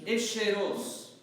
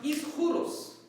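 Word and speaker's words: Ἰσχυρός: It's supposed to be pronounced Ischuros, first of all, which we're not going to do in church. But that's how it's supposed to be pronounced. The Greek word is supposed to be Ischuros.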